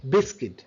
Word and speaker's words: biscuit: And there is a biscuit, ba ba ba ba ba ba ba ba, biscuit, u is silent, biscuit.